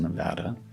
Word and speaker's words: Nevada: Nevada, it's pronounced Nevada.